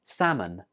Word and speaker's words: salmon: This fish is pronounced salmon. Salmon. Did you notice something here? Right, the L is not pronounced. So in writing, we write it with an L, but when we're speaking, we don't say that L. It's just salmon.